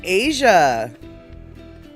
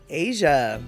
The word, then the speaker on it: Aja: And so, it's pronounced Asia. Okay. Aja. Asia.